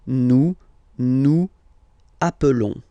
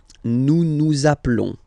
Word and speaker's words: nous appelons: Okay, nous appelons. And then little link would be perfect, so let's pronounce the whole thing again. Nous appelons. Nous appelons. Okay, final s doesn't exist.